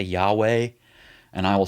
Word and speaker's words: Yahweh: And so we kind of guess that it might be pronounced weh at the end. And it's 3 dots, Yahweh. So we say Yahweh, and I will say that.